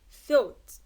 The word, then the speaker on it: thought: when GH is followed by T the GH is silent، راح يكون الحرفين غير ملفوظات. like thought enough thought، مع انه